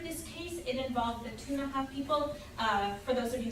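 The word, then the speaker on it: Ktunaxa: It involved the Tunaha people. For those of you who may have read it, it's spelled K-T-U-N-A-X-A.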